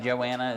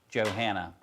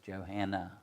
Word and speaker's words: Johanna: Is it Joanna? Is that how you pronounce it? Johanna. Okay. So like Emily, it's Johanna.